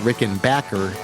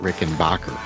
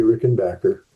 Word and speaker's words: Rickenbacker: For the record, by the way, it is pronounced Rick and Backer, not Rick and Bacher.